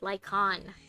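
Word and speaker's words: Lycaon: Oh, that's how you pronounce it, Lycon. The A is silent.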